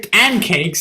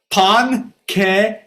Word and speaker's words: pancakes: I didn't say pancakes. It's pronounced pon-ke-kays.